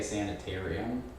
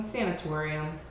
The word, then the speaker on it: sanatorium: Wait, is that how you pronounce that? I would say sanitarium. No, sanatorium.